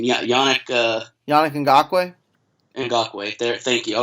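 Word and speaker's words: Yannick Ngakoue: Yeah, Yannick Yannick Ngakwe.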